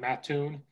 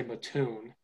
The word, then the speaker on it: Mattoon: is Mattoon, and that's how I say it, Mattoon, but people say Mattoon. And so when people from Chicago, a lot of people from the suburbs go to Eastern, and there's restaurants in Mattoon and stuff.